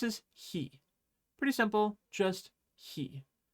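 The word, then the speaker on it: へ: Pretty simple, just he. When you write it out in English letters, it might look like hi, but it's not. Remember, it's he.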